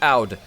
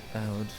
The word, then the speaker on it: Aud: This is pronounced Aud. Just, you know. Aud. Not through.